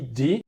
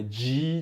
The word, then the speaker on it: DHI: E Di é a sílaba da mente da sabedoria. Om Arapatsana Di. E aí é D-H-I. Não é Di de DJ, assim com o sotaque brasileiro, é Di.